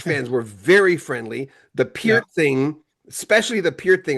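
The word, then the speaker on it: Peart: The Pier thing, especially the Pier thing.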